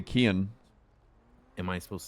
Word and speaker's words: Kian: I say Kian.